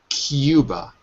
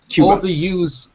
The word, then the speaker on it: Cuba: Cuba. Exactly. Okay. So that's the first thing. Cuba. All the U's in English are not U, but EU. So it's Cuba.